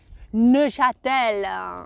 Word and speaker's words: Neuchâtel: How would you pronounce that one? Neuchâtel, Neuchâtel.